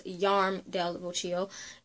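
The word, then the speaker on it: Jarm Del Boccio: Oh, it says that it's pronounced, the J is pronounced as a Y, so it's Yarm del Vocio.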